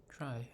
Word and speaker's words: trie: A try pronounced as try or prefix tree is a tree data structure used to efficiently store and retrieve keys in a data set of strings.